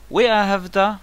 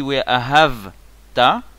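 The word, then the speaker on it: ואהבת: Donc si on prononce mal le mot, si on dit We Ahavta, ça devient pas un vav conversif, ça devient un vav, une conjonction de coordination.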